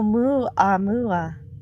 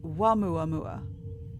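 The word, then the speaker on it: ʻOumuamua: Oh, Mu Amua is how it is pronounced. The first interstellar object discovered. But the the first two letters in that were o u which sometimes is pronounced wah. So it could be wuam mua.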